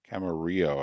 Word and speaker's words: Camarillo: Camarillo, I think, is how they pronounce it. Camarillo. There you go.